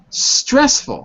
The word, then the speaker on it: stressful: Stressful. How many syllables? 2. Stressful. Good. Where's the stress? On the first or the second? The first one.